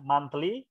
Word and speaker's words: monthly: from my monthly monthly jadi bukan mon tapi man, ya. Sekali lagi teman-teman yang lain juga perhatikan, tulisannya memang mon tapi bacanya man, ya. Monthly income, my monthly income working at Haluoleo Airport.